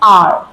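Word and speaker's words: hour: an apple N orange N आर in this H is silent so it will be एन आर the third article is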